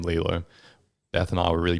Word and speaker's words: Leelo: sounds cool all right let's just spell Lilo different because Lilo and Stitch is like Lilo so let's spell it l-e-e-l go to the show